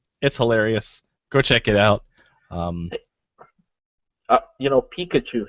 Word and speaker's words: Pikachu: Pikachu has 3 syllables. Pikachu! 3 syllables. Three.